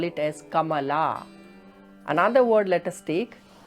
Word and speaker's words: Kamala: For example, when we pronounce this word, it is Kamala, Kamala. But when the same word becomes a feminine word like Kamala, then most probably we are going to pronounce it as Kamla, Kamla, or Vimla instead of Vimala.